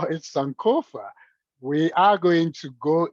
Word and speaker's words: Sankofa: And as you see, it's a 3-syllable word, Sankofa.